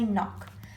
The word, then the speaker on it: knock: In knock, the kicking k is silent. We don't say knock, we say knock.